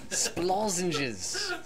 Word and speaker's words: Splozenges: Lozenges. Splozenges. Lozenges. Okay. It's like so, lozenges.